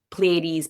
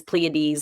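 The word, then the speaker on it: Pleiades: lot of talk about the pleades pleades however you want to pronounce it I think both are equally acceptable pronunciations of the pades and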